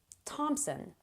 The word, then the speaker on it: Thompson: TH words that don't sound like TH at all.